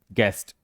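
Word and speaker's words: guest: ठीक है, अगला है गेस्ट, क्या पढ़ेंगे? गेस्ट। देखिए, यू के पहले जी, उसके बाद स्वर।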